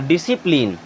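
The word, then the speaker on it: discipline: यानी मांसपेशी होती है अब देखिए यहां भी एस के बाद में सी आ रहा है इसे भी साइलेंट कर देंगे ये हो जाएगा डिश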